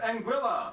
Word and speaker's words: Anguilla: havens first we have anguilla yeah that's how you pronounce it named after the spanish